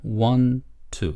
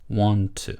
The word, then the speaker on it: want to: 그래서 want트 이렇게 하지 말고 그냥 want to 이렇게 한 번만 t 발음을 하세요. 알겠죠? want to 이렇게 하지 말고 want to 마치 이게 한 단어인 것처럼 want to 이렇게 하세요.